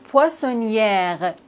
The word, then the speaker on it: poissonnière: Ici, on ne prononce pas le R. Poissonnier. Mais regardez ce mot. Poissonnière. Ici, on doit prononcer le R parce qu'il y a un E après le R.